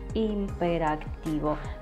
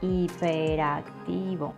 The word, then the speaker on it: hiperactivo: action all the time, some people say that this boy is imperativo, but that's wrong, okay? The right way to say this word is hiperactivo.